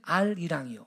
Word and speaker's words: 아리랑: 이런게 연원 법칙이라는 거예요 그럼 똑같아 맨 처음엔 알 이랑이 알이랑 근데 을이 다음 음절에 헛소리로 발음 되니까 아리랑이 된 거예요 원래는 아라리오 그래요 아라리오